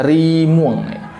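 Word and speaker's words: Rimueng: Harimau, bahasa Indonesianya adalah rimuang. R-I-M-U-E-N-G. Sorry, R-I-M-U-E-N-G. Jadi bacanya rimuang.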